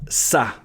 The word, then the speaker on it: ça: how to call that a little tail underneath For example, ‘ça’ → ‘it’ By itself, normally C and A would sound or we have ‘garçon’ which means ‘boy’ So without the cédille, would be → You put the cédille in becomes /s/ sound If you enjoyed this